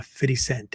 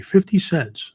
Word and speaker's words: 50 Cent: he co-wrote with uh 50 Cent. I think that's the correct way to pronounce it. You know, I'm a white guy. I would just say 50 Cents, but apparently that's not right.